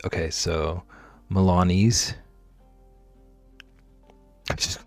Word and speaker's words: Milanese: Rhymes with sneeze. Okay, so Milanese.